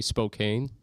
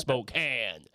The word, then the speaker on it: Spokane: I didn't say Spokane. That's good. You're doing great. I I saw the comment where it was like dude said Spokane. It's pronounced Spokane.